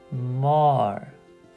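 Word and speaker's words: مار: about this one here if you're used to English you might think of this as M but that's not right remember remember the U makes an up sound a like the word up so this one is going to be mar mar mar which means snake and then how about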